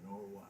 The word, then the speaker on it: Norwine: Is that how you pronounce it? Norwine. Norwine. I saw it's W-I-N-E. Just think no beer, whiskey, nor wine.